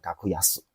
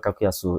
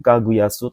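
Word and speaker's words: 格安: Kaguyasu itu enggak ada minasang arieng. Nomor tiga juga enggak ada. Kaguang itu enggak ada. Nomor empat juga kakuang tidak ada. Ya, jadi jangan terkecoh. Ini bacanya kakuyas.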